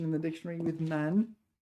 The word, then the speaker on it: 埋: Yeah, okay, so 埋怨 this is the only time it's pronounced man, or at least it's the only definition in the dictionary with man.